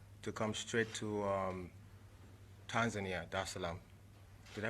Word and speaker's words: Dar es Salaam: of the 7th, to come straight to Tanzania, Dar es Salaam. Did I pronounce that right? Yeah, Dar es Salaam. Okay, cool. Dar es Salaam.